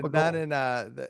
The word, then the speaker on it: Gabagool: Gabadoo before.